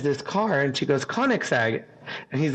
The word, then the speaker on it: Koenigsegg: And she goes, Koenigsegg. And he's like, yeah, I don't think that's how that's not how it's spelled.